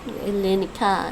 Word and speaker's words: Ελληνικά: Ελληνικά. Ελληνικά. The stress is on the end.